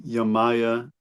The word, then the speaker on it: Yamaya: I pronounce her name Yamaya.